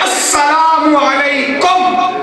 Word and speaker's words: السلام علیکم: آتا تو سیکھ لو، اصل ہے السلام علیکم، تلفظ ٹھیک ہونا چاہیے، السلام علیکم یا سلام علیکم۔ آگے سے جواب ہے